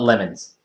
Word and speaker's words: LeMons: But the way you pronounce it is the same way you pronounce Le Mans, but you spell it lemons. It's called the Lemons Race.